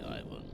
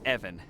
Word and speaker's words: Ivan: today so ask away Ivan uh Evan it's it's pronounced Evan with a short guttural I wanted to ask